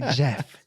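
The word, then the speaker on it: Geoff: o FF g off yeah that's how we pronounce it but they they say Jeff nice Liam had two older sisters named Nicola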